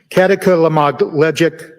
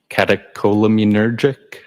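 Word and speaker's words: catecholaminergic: Um, katakamogle leagic tacocardia. I probably butchered that up. Does that ring a bell? Uh, katakolamunergic.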